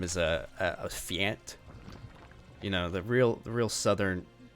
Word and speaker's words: Fjant: Give it up for Fjant. I do hope I'm saying Fjant's name right. I know I've butchered it in the past, and I am terrible at learning names.